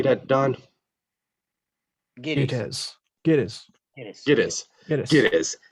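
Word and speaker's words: Gittes: Giddies.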